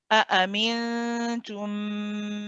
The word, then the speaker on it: أأمنتم: Again, you've got 2 hamzas here, but and again, they both have to be nice and sharp. Stop. Say e. Stop your sound. Start your voice again.